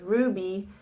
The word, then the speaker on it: RWBY: is back up again is ruby which is spelled rwby and it's one of